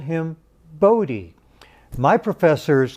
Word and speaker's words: Bode: netherlands he was dutch his mother preferred the dutch pronunciation which i've been told is buddha and but his colleagues